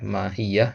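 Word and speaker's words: ماهيّة: Ya, mahiyah ada tasydidnya di situ.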